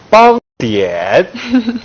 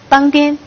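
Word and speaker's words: 邦典: 邦点。严格讲，发音还是不同的。藏语发音是邦颠。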